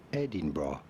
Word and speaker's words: Edinburgh: Edinburgh.